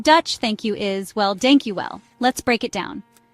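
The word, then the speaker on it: dank je wel: In Dutch, thank you is, well, dank you well. Let's break it down. Dank sounds a bit like the English word donk.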